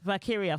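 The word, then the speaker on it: Valkyria: pretty deadly going staying on SmackDown vyra valkiria valkiria thank you very much for pronouncing it correctly NXT to Raw good pick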